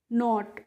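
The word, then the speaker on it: knot: ऐसे ही होता है के एन ओटी तो इसको नॉट और नोट का मतलब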